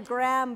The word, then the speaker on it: Graham: yes J mispronounced Alexander Graham Bell the H is silent but it's okay all